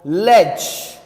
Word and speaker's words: ledge: Answer is true, because in the word ledge we do not speak D, we do not speak D.